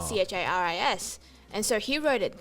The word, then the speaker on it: Charis: is spelt c-h-a-r-i-s yep which you must get a lot of interesting pronunciations yes is that correct any really interesting ones or is it mainly just charis and carys i once got chorus chorus yes that happened because